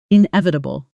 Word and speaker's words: inevitable: The sound challenge is that middle section, again, that quick collapsing schwa pattern we've now trained many times today. Slowly, in e, it u, bull. Fast, inevitable.